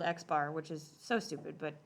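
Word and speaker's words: x̄: down means a mean and it is literally pronounced x bar with an x with a line over it means called x bar which is so stupid but that's what it's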